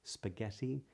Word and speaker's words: spaghetti: H's which would be silent silhouette for example spaghetti at least in this anglicized pronunciation the would be silent but for the